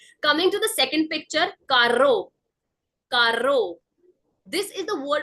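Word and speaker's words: carro: language which is why I have used the pronunciation as Caro Caro because there is Double R in the word coming to the third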